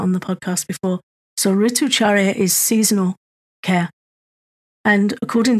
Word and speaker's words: Ritucharya: Yeah, Ritucharya.